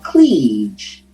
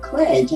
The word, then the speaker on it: Cleage: incorrectly and um because i was saying that it's pearl cleage right uh but after i heard you say kledge i said well maybe it's kledge i went online and